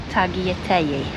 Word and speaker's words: tagliatelle: How are you supposed to say it? Tagliatelle. Apparently you don't pronounce the L's.